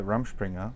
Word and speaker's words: Rumspringa: I mean, was it like, do you go like on the Rumspringa, which I need to explain to people.